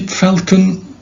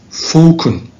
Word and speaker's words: falcon: By the way, how do you pronounce this word? Do you say falcon? When you say falcon, this is US English. And in the British English, it's falcon.